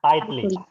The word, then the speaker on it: tightly: Jadi huruf G sama H-nya nggak dibaca. Jadi tightly ya. Bukan tight tapi tightly ya.